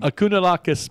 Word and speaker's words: Kounalakis: That's how I know how to pronounce her name. Kounalakis Matata.